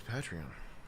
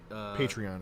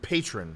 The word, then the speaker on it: Patreon: it patreon Chris patreon I'm just kidding patreon it should be patreon they call it